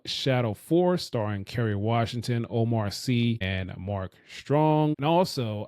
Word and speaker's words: Omar Sy: The name is pronounced is Omar Sy, not Sy.